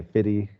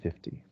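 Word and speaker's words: fifty: 20, yeah, in American English, especially with 20 and 50, and so we sometimes leave it out and say 50 and 20, but the correct pronunciation is with the T, 20 and 50. It's just a little bit more of an American accent without it.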